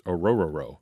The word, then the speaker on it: Orhorhoro: But in the official Clemson pronunciation guide, it's Orhorhoro.